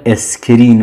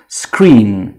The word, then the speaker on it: screen: خب اینم باز دیدم که توی تلفظ خیلی از فراگیرها میگن اسکرین، مثلا اسکرین شات بگیرم. این اسکرین نیست، بلکه قبل از هیچ حرف صداداری ما نمیشنویم. screen، screen.